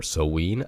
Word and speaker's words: Samhain: of Halloween oriented things starting with Samhain or Samhain or so ween again the pronunciation varies depending on the dialect being used and then last week